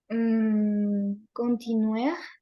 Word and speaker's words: continue: O sea, las es al final no se van a pronunciar. Sí, eso es clave. Ninguna E aquí se va a pronunciar. Uf, oui. Et ninguna S tampoco. D'accord?